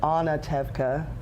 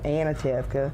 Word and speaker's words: Anatevka: get a village or anatevka versus what we want to do is go anatevka yeah guilty guilty guilty um so you know making sure they have that vka Sprint getting them those